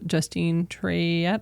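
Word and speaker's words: Justine Triet: and her long-term partner so Justine trette I believe is how it's pronounced in French and her partner Arthur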